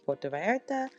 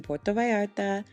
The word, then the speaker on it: Puerto Vallarta: As previously stated, I was staying in Puerto Vallarta. Don't make fun of my accent. Apparently you pronounce the L's like Y's.